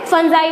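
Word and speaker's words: fungi: ठीक है, अगर प्लूरल में जब हम प्रोनाउंस करते हैं तो क्या बोलते हैं? फंजाई बोलते हैं.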